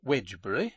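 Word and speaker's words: Wednesbury: to the coal trade in heavy Freights wbury pronounced wedgbury and spelled wedner bery in Dooms day book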